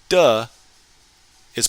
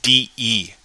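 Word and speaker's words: 的: So here this de is pronounced de, not dei, as we were pronouncing it in lesson 6. Same character, but depending on the context, it's pronounced differently.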